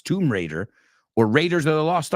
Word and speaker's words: Tomb Raider: Raider you know to you say tomb Rider it's not it's Tomb Raider or Raiders of the